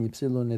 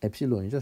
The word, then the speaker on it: 엡실론: 근데 이 수렴한다는 게 이제 굉장히 여러 가지가 있는데, 수학적으로 확률에서는, 그래서 convergence improbability라고 이야기를 하는 건 뭐냐면, 모든 입실론에 대해서 이 엡실론이죠, 정확한 발음이.